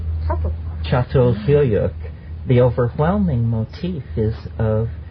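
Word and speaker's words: Çatalhöyük: It's actually spelled C A T A L, but it's called Sat Chatyuk.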